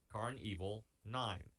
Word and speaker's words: Karn Evil 9: The Carnival is spelled Karn. That's the first word, and the second word is evil, Evil. Carnival 9. That's the name of the song. Carnival is a play on Carnival.